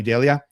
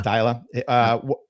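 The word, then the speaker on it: Deila: What were your thoughts on this massive influx of talent combined with I can't say his name right, Ronnie Delia? Ronnie Dyla, yeah. Dyla. Combine that with his first and only season.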